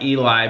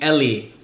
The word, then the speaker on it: Eli: just started going by Eli because it's so much easier for people to pronounce. And believe it or not, people still say it wrong sometimes because they call me Ellie.